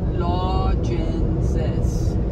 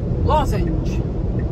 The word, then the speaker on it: lozenge: Lodgences. Lodgences. Lodgences. Lodgences! Lodgents. Lodgents, that's two syllables. Think of that center consonant as a Z.